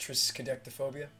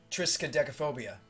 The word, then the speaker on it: triskaidekaphobia: Austin says it's Tristan technophobia severed says it's pronounced triskaidekaphobia triskaidekaphobia there we go thank you so it is